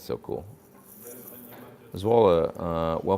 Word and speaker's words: Zwolle: Zwolle, well pronounced, says Jord.